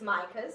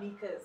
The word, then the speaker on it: Mika's: It's Mika's. Everybody says Micah's, but it's Mika's.